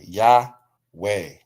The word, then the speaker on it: Yahweh: So the difference is they're pronouncing it y. This is a a yah. And then we have the vav here. There is no o. There's just a vav and a and a ha. So Yahweh y a h yah